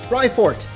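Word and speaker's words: Raifort: heck does that mean Rye like ride on but no it's spelled Rye r-a-i like ryko maybe yo is that Professor lavington on the board my guy oh my name is rifort I will be the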